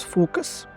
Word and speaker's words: Fooocus: you the name is focus I think it is pronounced as Focus because it is like 3 so it is focus okay and the if